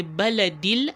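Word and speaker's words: البلد: of pronouncing it and that is why we say Bala deal and you did not hear me join in the alif Hamza after the lamb because this alif Hamza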